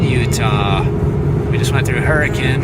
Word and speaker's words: Hurricane: We just went through Hurricane, I think is how you say it, not hurricane, but Hurricane.